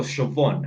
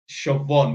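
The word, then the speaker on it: Siobhan: was SE or something come to find out it's Irish for shobon how the do you get like if you know how to spell shaon yeah that is phonetically that's not how you would spell it yeah shobon with a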